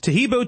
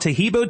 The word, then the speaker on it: Taheebo: Tahibo tea is great for healthy people because it helps regenerate cells.